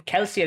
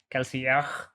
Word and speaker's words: Kelsier: Yeah, I mean, even Kelsier is technically French. It's supposed to pronounce with the guttural R of French, and I can't do it to save my life, so I'm not going to do it.